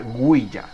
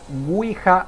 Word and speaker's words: Ouija: dando como resultado la palabra wiha que se pronuncia guya pero popularmente es nombrada guija o uija no hoy día digamos en lo que es